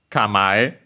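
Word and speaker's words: 構え: Kamae, accent on the ma on its own.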